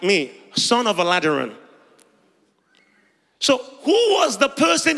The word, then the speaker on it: Aladiran: EUR about mostly so my surname is alad that's the way you pronounce it many EUR people would